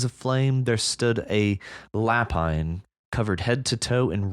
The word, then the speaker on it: lapin: So, I was interested though in the I don't know how to say it. Lepin. Lapin. Oh yeah. Lapin. And that's French for rabbit.